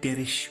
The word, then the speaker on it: Derich: said the following M can you say derish with an H please Megan can you please say d with an H please you said it wrong Megan you said my name wrong there's no K there's clearly an H oh Megan can you